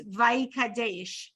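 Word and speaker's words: ויקדש: say anything so it's really the syllables are Vai cat Dash so if you put it together it's vicadesh so it almost sounds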